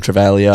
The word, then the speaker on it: Travaglia: I know Travaglia, I don't even know if that's how you say his name. Travalia. Travalia. Um yeah, he's come into